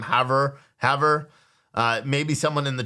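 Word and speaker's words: Havre: her is that just how you say it Haver okay so I have her Montana right and uh and and apparently they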